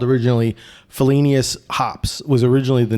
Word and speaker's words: Felinious: It's like every time when somebody says Felinious, I'm like, it's Felinious. God damn it.